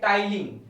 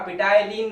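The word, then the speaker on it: ptyalin: क्या बोलते हैं, स्लाइवरी अमाइलेज, या फिर इसको एक और नाम दिया गया है टाइलिन। अरे ये पी साइलेंट है ना, पिटाइलिन कोई नहीं बोलेगा, क्या है, टाइलिन।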